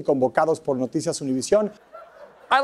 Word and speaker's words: Univision: Univision.